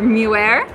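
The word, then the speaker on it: Meunier: So for Chardonnay and sparkling wine, the red grapes often used are Pinot Noir and Pinot Noir, or Muir, I believe it's pronounced.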